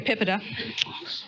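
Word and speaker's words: PIPEDA: a vote from you on how it's actually pronounced tip it up okay PIPA de there you have it if you take nothing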